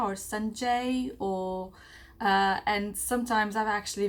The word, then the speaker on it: Sanja: where you would know, it's actually Sanja. So my name is Sanja, and N is like from New York.